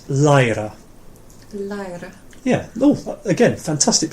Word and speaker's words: læra: It's a little bit like the English word. It's læra.